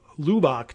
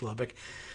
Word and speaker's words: Lubbock: groupo of lubbock texas or i guess if we're mispronouncing grupo and he's just gruppo lubach texas but we know it's lubbock said he regrets putting his